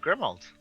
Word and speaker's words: Grimwald: my other associate uh grimwald the w is silent why did you pronounce